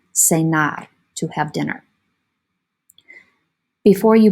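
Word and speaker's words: cenar: song to have dinner senar senar a lot of times students will say that i have dinner with john cena because it's spelled the same way pronounced differently spelled the same way say nai to have dinner before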